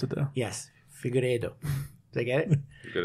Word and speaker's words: Figueiredo: Figueiredo. Sorry, thank you. We can talk about that next week. Yeah, for sure. We gotta learn how to pronounce it though. Yes, Figueiredo.